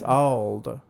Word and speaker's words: Auld: almost sounds like they're pronouncing it old, but it's old.